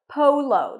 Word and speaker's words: polo: the word poo to O is in go Polo the stress is on the first syllable Polo water polo water